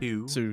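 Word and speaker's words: Hsu: H-yes-U. Sue, yeah. Oh, yeah, like Sue Hao from Mortal Kombat, everyone's favourite.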